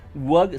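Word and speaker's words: Waaagh: Para empezar hay que aclarar, WOG se escribe W-A-A-A-G-H. Esa es la forma de escribir WOG.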